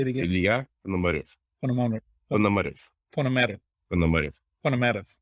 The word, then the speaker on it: Ponomarev: but in Russian the stress goes to the last of the word. So say it one more time, slowly. Ponomarev.